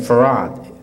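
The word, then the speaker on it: Fard: I'm sure the author of that idea named Farad spelled F A R D in the dictionaries library dictionary encyclopedia botanica what is pronounced f a r a d farad wd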